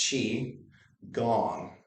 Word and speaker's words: Qigong: a little weird but it's pronounced chi like cheese almost but chi gong you'll also see different